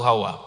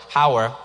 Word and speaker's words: Hawa: And since the British pronounced Hawa as if it were Howard, I made my American name A.